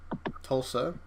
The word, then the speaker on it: Tulsa: Tulsi police. Tulsa. Listen to it. Tulsi. Where's the I? The I is silent and doesn't exist.